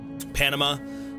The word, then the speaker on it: Panam: How do you pronounce her name? Panama, like Panama. No. Oh, is it Panam? Panam. I thought it was Panama.